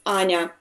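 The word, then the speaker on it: Аня: Like Anna, and in Russian it pronounced like Anna or Anya. Okay. It's for people who are talking English. It's hard to pronounce Anya because they have no soft, as I call it, soft vowels.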